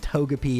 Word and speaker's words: Togepi: But it's pronounced Togepi in Japanese. It's Togepi.